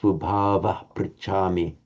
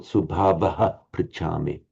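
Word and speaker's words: स्वभावः: middle of a line, you only have the shadow vowel at the end of a sentence or at the end of a line of verse. So Madeline correctly pronounced Subhava Prichami. Subhava Prichami, not Subhavaha Prichami.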